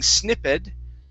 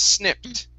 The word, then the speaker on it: snipped: so this word here instead of being snippet okay the ed sounds like a t the word is snipped try that okay very